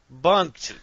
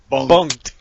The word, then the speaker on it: Bunk'd: watched all right so we watch bumped bunked which is spelled b-u-n-u-a-k-a apostrophe d bunked okay this is a